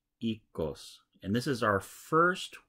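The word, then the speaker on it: Oikos: I being coy however in Greek the O I is actually pronounced e like in seed so remember the Greeks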